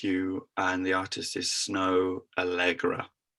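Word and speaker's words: Snoh Aalegra: It's called Find Someone Like You, and the artist is Snow Allegra. It's spelled SNOHAALEGRA.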